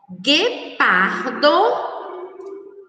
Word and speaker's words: guepardo: Foguete, guepardo, Guilherme, guincho, Miguel. Então, essas são as palavras que nós, quando pronunciadas, não escutamos o som da letra U, que exatamente como mangueira.